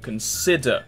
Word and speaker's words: consider: first behavior second syllable consider second syllable magnetic second syllable question